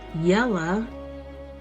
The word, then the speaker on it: Ela: I knew that name, and although he pronounced it Yella, I knew the correct spelling.